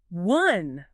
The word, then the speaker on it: one: Yeah, the spelling with O is misleading. It doesn't sound like O. It actually uses the vowel sound from words like up or fun or summer. That O sound. So it sounds like one, like w N. And it sounds exactly the same as one, the past tense of when. One and one.